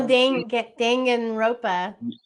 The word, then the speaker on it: Danganronpa: the name wrong. And it's Danganronpa, I want to say, or Oh, Danganronpa.